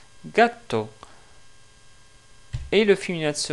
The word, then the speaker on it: gatto: Par exemple, pour ce mot-là, justement, qu'est-ce qui veut dire un chat, en italien, on le prononce gatto, gatto.